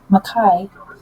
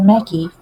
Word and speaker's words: macaque: have several hundreds of rhesus macaque, or macaque, depending on how you pronounce it, monkeys that they are doing research on.